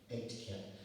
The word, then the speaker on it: Aitken: It's spelled A-I-T as in Tom, K-E-N as in Nancy, pronounced like the number 8, and Ken as in your next of kin, Aitken.